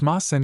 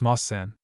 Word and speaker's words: Moss-san: It's Moss-san. You're supposed to say it as Moss-san.